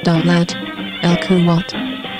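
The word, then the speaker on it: دولة الكويت: The state of Kuwait, Arabic, pronounced Dawlat al-Kuwait, is a sovereign Arab emirate bordered by Saudi Arabia to the south and Iraq to the north and west.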